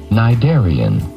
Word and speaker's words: cnidarian: species called cnidarians and even though it begins with the letter c the c is silent cnidarian just like that number